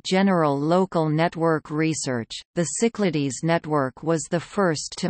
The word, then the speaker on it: CYCLADES: The CYCLADES computer network, French pronunciation, CYCLADE, was a French research network created in the early 1970s.